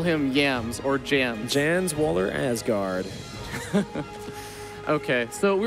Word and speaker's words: Jens: For those who don't know, his first name is Jens, J-E-N-S, but Jans. It's always fun to just call him Yams or Jams. Jans Waller Asgard.